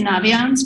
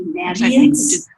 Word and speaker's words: Naviance: So in Minnesota we say Naviance, but it's actually Naviance because it's navigate, and they make fun of us.